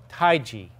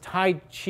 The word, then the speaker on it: Taiji: I right right so going back to how you pronounce the Chinese language this Tai Chi is incorrect although there are places